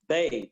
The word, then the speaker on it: Bey: Bay, Bey. Now, before I get off, I want to make sure y'all hear this and remember this.